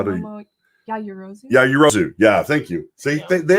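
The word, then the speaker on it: Yaoyorozu: Yeah, it's and then we've got Momo Yatsugi. I can never say her name right. How do you? Yajirozu.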